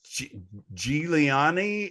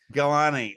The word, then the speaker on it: Gilani: And our last guest is Giuliani. Is that correct? Am I saying it right? It's Gilani.